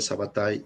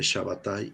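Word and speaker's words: Sabbatai: nombre shabatay es igual que el nombre sabata y son como diferentes pronunciaciones del mismo nombre y el apellido cevi es igual que el apellido seviconé o que el apellido sus vi como en este caso Ok El Mesías del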